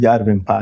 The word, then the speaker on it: Järvenpää: So the way you pronounce the Järvenpää is I remember.